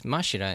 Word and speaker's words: Mashira: pronounce that in English it's mashira in in Japanese so I'm just going